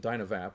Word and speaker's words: DynaVap: And just another little side note, we pronounce it DynaVap because there is no E.